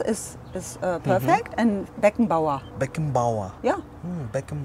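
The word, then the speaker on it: Beckenbauer: Matos Matos Matos and the last one France Beacon B yeah they good yes France is is uh perfect and beckon ba beckon ba yeah beckon B what do you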